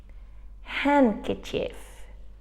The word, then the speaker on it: handkerchief: and in this sentence we've got a silent D we don't say really hand some or sand which we write the day but we don't pronounce it so let's see let's